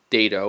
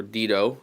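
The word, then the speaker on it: Dedo: a company out there called dado or Dido depending on how you pronounce it and data lights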